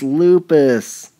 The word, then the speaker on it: lupus: you guys are good it's lupus rhymes with pupas what bodily components mediate